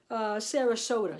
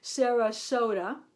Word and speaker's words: Sarasota: me so that was sarasota sorry i said it wrong sarah soda yarn by cascade yarns and